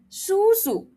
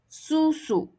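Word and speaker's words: 叔叔: You'll say shushu shushu Once again, shushu. And remember, there's a H here. You do not put your tongue at the front. You do not say it like this. shushu, wrong. shushu shushu All right.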